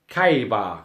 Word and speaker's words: Khaybar: Yes, the second massacre at here we are, I'll pronounce it properly, Khaybar, Khaybar, in 628 AD.